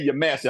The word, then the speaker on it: Yamasi: you do is say Yamasi. I'm gonna teach you the language now. Yamasi. Yamasi. So and the reason why I say that is because in our language, our A's are pronounced like father.